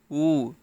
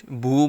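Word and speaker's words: وُ: পেশ বু, ওয়াও পেশ উ, অনেকে ওয়াও পেশ ভু বলে, ভু, ভু হবে না, উচ্চারণটা হবে ওয়াও পেশ উ, ঠোঁটটা গোল করে ভিতর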